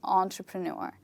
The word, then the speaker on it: entrepreneur: and not five and in this word the stressed syllable is the last part of the word okay the final part it's just repeat these